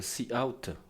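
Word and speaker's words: cout: manifeste notamment avec la la syntaxe c out qui se prononce euh C out coup euh qui se prononce C out euh ce qui est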